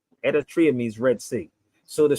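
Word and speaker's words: Eritrea: say Moses parted the Red Sea but it's pronounced Eratria means Red Sea so the story they told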